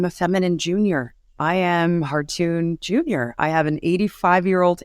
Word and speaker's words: Khartoon: Khartoon is actually pronounced Khartoon. It is a Turkish name.